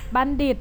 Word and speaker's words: บัณฑิต: เสียง เพราะ ทหาร บัณฑิต บัณฑิต อ่าน ออก เสียง ทอ เป็น เสียง เด็ก นะ คะ อ่า นัก